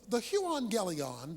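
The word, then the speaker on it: εὐαγγέλιον: The Greek word for gospel is the word euangelion. That's how it's pronounced.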